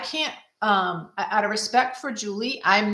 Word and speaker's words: Juli: Now, another reason why I love what Julie, I think she pronounces her name Julie. She spells it Juli.